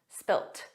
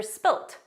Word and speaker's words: spilt: spilled the the spilled in British English there's an alternative word that's spelled differently because it's spelled with a t and it's pronounced that way so it's just the